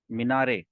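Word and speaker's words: minaret: फिर मीनार को इंग्लिश में कहते हैं मीनारे। ठीक है। मीनारेट आप पढ़ेंगे ना, टी साइलेंट होता है, तो मीनारे ऐसे करके।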